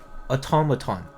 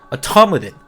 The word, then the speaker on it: automaton: And like so I look up this word automaton. How do I find out it's pronounced? Automodin. Dead. Where does the den sound come from? Like automad from where? Why is it like why is it automaton then?